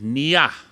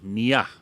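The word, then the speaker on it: niya: I want you to repeat after me say Nia yeah now if you spell that n-i-y-a Nia so what does NIA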